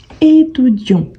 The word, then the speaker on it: étudiant: le féminin le masculin étudi étudi étudi on ne prononce pas le T à la fin donc c'est aussi une